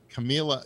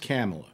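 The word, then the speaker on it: Kamala: i wonder you know camilla camilla harris always kind of giggles and laughs and uh it's pronounced camella yeah well maybe she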